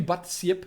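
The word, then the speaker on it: Badseep: If you're having trouble with pronouncing my name, just say. It's Dutch. Oh, Batzip. Cool, okay. It's actually Batzip for us in Afrikaans, but Batzip makes perfect sense.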